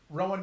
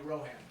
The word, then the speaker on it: Ro Han: Rowan knows what he's doing. I want to talk about your name because you spell it Rohan, but Will told me to get pissed off when people call you Rohan.